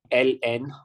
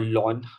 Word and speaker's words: ln: We call this ln or lawn.